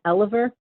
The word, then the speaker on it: Elover: easy to find online my last name is pronounced Oliver but it's actually spelled E so I'm pretty easy